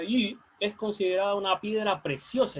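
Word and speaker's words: 玉: Bien, el jade, que en chino se pronuncia yu, es considerada una piedra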